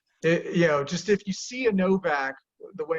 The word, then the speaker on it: Nowak: So, but it's pronounced with a V, because in Poland the W makes a V sound, and we have a separate letter that makes the L sound, or the W sound, I should say.